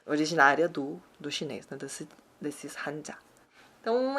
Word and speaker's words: hanja: Mas, então, kanji seria no japonês, kanji, e no coreano, hanja, hanja.